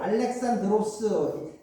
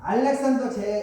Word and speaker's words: 알렉산드로스: 자 알렉산더 대왕이 갑자기 죽은다고 그러니까 이렇게 여러분 알렉산더를 알렉산드로스 그리스식으로는 발음이 알렉산드로스예요. 하여튼간 영어식 발음은 알렉산더. 그래서 알렉산더 제국이 뭡니까?